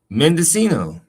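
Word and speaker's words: Mendocino: pronunciation. Mendescino. Oh, I said it right. Mendescino.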